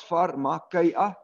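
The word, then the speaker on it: φαρμακεία: It's pronounced as pharmakia.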